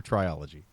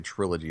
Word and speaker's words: trilogy: a month look for triology triology I've never in my life heard someone say Trilogy is triology well I me